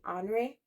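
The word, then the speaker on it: Henri: love French names so in English we would say Henry but in in French it would be hre and I I will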